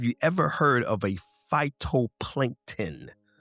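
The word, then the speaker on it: phytoplankton: is pronounced phyto plankton.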